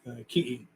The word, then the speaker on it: ki'i: The word Tiki is actually the Tahitian word. So in Hawaiian, it's pronounced ki'i. Ki'i.